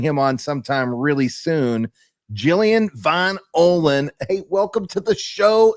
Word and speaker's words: Jillian Von Ohlen: Jillian Von Ohlen.